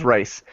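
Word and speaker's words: Rhys: one of the kids I think it's rice and I don't think I realized until like a week ago that it was spelled like RH Ys and I thought it was actually just like r i c and I was like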